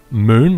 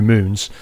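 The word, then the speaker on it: Mün: inevitably you probably will he's currently stood on moon that's spelled muu n and the U has an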